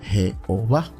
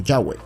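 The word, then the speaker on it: Yahvé: pudiera pronunciar su nombre lo llamaron jehová pero en realidad su nombre es llave o yagüe número dos los testigos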